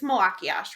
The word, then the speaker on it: Malachiasz: But I keep seeing on Twitter that people are arguing about and you have to tell me if I'm pronouncing it right. It's Malakiash, right? Yeah.